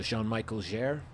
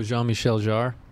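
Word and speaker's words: Jean-Michel Jarre: I can't pronounce French how do you say it uh Jean Michael Jer oh Jean Michelle jar yeah yeah that's how you say it all right but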